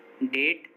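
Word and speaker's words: debt: जैसे डेट, डाउट, subtle, इन सभी words में देखिए टी से पहले बी आया है और जब भी किसी वर्ड में टी से पहले बी आएगा तो बी साइलेंट होगा।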